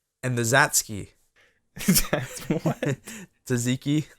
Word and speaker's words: tzatziki: Tzatziki, like yeah, Zatsky. Yeah, the T is silent.